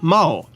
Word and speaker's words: Mao: The rival wrestler to our main character is the Macadamian Ogre, or Mao, with a short O sound.